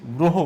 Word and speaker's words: গ্রহ: যেহেতু র ফালা যুক্ত আছে, এই র ফালার সাথে অ আছে, তাই অ এর উচ্চারণটা কি হয়ে যাচ্ছে, ও এর মতো হয়ে যাচ্ছে। ও এর মতো হয়ে সেই উচ্চারণটা দাঁড়াচ্ছে কি গয়ে এইরকম হয়ে যাচ্ছে, গ্রহ উচ্চারণ করছি। আমরা লিখছি গ্রহ কিন্তু উচ্চারণ করছি কি গ্রহ।